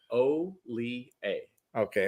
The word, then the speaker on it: Hollier: from the horse's mouth O A okay O A okay yep H is silent i e r how often how often